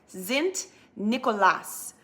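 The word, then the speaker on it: Sint Nicolaas: Nicholas Day every year they pronounced they pronounced St Nicholas zint Nicolas and then in their language and they eventually came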